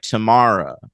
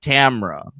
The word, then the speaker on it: Tamra: does, especially the pronunciation, because it's not like Tamara, like it's like Tamra.